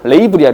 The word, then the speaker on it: 레이블: 이거 제발 라벨이라고 읽지 마. 레이블이야, 레이블.